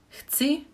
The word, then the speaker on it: chci: Here again we have the ch pronunciation, and also especially with the c, again ts, it could be a bit difficult to pronounce, so maybe try to separate the ch and c. It's 1 syllable, but maybe chci, chci, chci, chci, chci, chci. Try to say it faster after each pronunciation, and maybe it will be better.